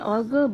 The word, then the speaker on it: 얼굴: 이혼 앞으로 준영이 얼굴 볼 생각하지 마. Nice. 앞으로. Even though, if I had to correct one pronunciation, when you're pronunciating the 리을 in the 받침, it's more 얼굴, not like 얼굴, 얼굴.